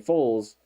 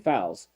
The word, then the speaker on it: Foles: Because now I remember like a couple years ago it was Flanagan Foles, and now it's 100% Flanagan Fowles.